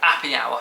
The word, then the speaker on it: Appy Hour: It was in our guidebook, and it said Appy Hour, so it's spelled app. Like happy, but drop the H.